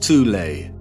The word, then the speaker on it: Thule: secret society within germany called the soul society sometimes alternatively pronounced tulay that had sub-factions within